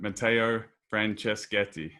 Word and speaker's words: Matteo Franceschetti: to have the eight sleep founder and ceo matteo francescati now do i pronounce that right that was perfect you speak